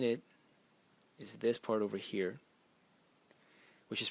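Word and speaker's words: 禾: And the semantic element in it is this part over here, which is pronounced he, and it is grain.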